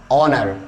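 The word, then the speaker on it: honour: So next rule number is योर 3, so English words में ओ से पहले एच आने पर एच हो जाता है साइलेंट, सो ऑनेस्ट, ओ से पहले एच आ रहा है, दैट्स व्हाई सभी में ओ से पहले एच आ रहा है, ओ से पहले एच आ रहा है, दैट्स व्हाई क्या हो जाएगा, एच हो जाएगा साइलेंट, तो आप इसको पढ़ते हैं ऑनेस्ट, आवर, ऑनर, राइट।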